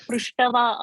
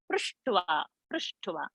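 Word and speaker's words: पृष्ट्वा: So it is not prushtava, okay. It's a half. So prushtva, and not prushtava.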